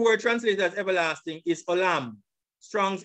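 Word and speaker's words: עוֹלָם: This is the pronunciation. Strong's H 5769. Olam. Olam. Olam.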